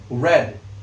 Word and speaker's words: read: Nah, mungkin kamu bertanya-tanya nih, kok dibacanya bukan eh kok dibacanya bukan read tapi red. Nah, karena verb 2 dari read membaca itu adalah red gitu.